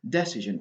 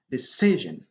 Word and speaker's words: decision: Dans decision, donc l'accent tonique ici, c'est sur C. C'est pas sur la première syllabe. On n'a pas le droit de dire decision ou bien decision. Non, non. Decision. OK?